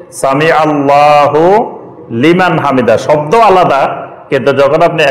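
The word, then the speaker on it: سمع الله لمن حمده: এটা হুলিমান ঠিকই আছে, এটার উচ্চারণ যখন একসাথে পড়বেন তখন এটা হুলিমানে হবে, সামি আল্লাহু লিমান হামিদা।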